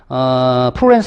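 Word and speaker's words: Florence: 프로렌스 성당 또는 피렌체 같은 얘기야. 프로렌스는 영어식 발음이고요. 피렌체는 개들 발음이야.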